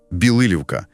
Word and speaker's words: Білилівка: І одразу, щоб ми правильно все вимовляли, наголос на другий склад. Білилівка. І річка там Роставиця.